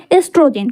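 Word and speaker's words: oestrogen: हैं एस्ट्रोजन है ना ओ से स्टार्ट करेंगे लेकिन हम पढ़ेंगे इसमें एस्ट्रोजन को साइलेंट होगा एस्ट्रोजन एंड प्रोजेस्टेरोन प्रोजेस्टेरोन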